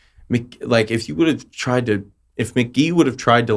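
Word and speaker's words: Mk.gee: And like even some of his other stuff, like if you listen to like it's pronounced McGee, like that album's great.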